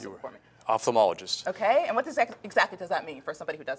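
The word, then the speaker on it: ophthalmologist: bit about yourself I know that you're an optomologist I get that I can't really pronounce that word so you have to pronounce it for me opthalmologist okay and what exactly does that mean for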